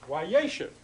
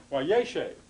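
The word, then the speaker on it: וַיֵּשֶׁב: while consecutive imperfect form, the accent which was originally there, yeshev, now moves to the front. It's wayeshev, wayeshev.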